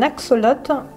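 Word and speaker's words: axolotl: Donc prononcez axolote. Oui, parce que c'est pas toujours facile de savoir le prononcer. Les scientifiques n'ont pas encore trouvé de limite à la fréquence à laquelle un axolote peut régénérer une partie de son propre corps.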